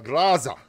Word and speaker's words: Groza: But the gun's got the same rate of fire as a Groza. A Graza, as it's correctly pronounced, apparently, by people who, you know, speak Russian and stuff.